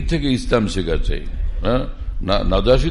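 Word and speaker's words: النجاشي: ওখানে গেলে তখন বাদশাহ ছিলেন নাজাসি, লোকেরা বলে নাজাসি, এটা ভুল উচ্চারণ, নাজাসি।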